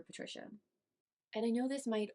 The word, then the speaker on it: Patrizia: And I also want to note that I do think her name is pronounced Patrizia, but that is going to be confusing down the line, so I'm just going to call her Patricia.